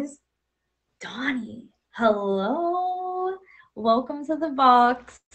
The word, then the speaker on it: Danie: It's pronounced Danie because I'm originally from South Africa, even though it's spelled Danie.